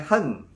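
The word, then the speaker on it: Chen: ini tidak boleh tidak tulis c h n bacanya Hen gitu ya Hen nah oke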